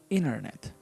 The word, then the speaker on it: internet: Internet. You can pronounce internet, but you can say internet.